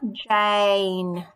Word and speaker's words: Jane: a split by graph i have a long a in my name here jane the difference between me and someone called jan is that i have this e on the end and the e with